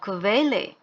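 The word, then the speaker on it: Quelle: খু, খুতে হচ্ছে kvalitet অথবা kvele, kvadrat। তো এই ইউ থাকলে কোয়া না হয়ে kvা হচ্ছে, ভি টাইপের উচ্চারণ হচ্ছে। কোয়াড্রাট, কোয়াড্রাট হচ্ছে স্কোয়ার, নর্মালি যে স্কোয়ার শেপ হয়।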